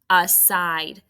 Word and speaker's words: aside: did you get that a is an open exception with a schwa and side is vowel consonant e with a macron on the eye and cross off that silent e okay number two your